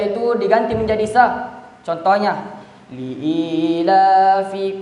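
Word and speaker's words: لِإِيلَافِ: Jadi di situ Bapak Ibu terkadang orang membacanya itu dia baca pi padahal fi. Jadi huruf fi itu Bapak Ibu bibir bawah menyentuh gigi seri atas. Jadi bacanya fi bukan pi.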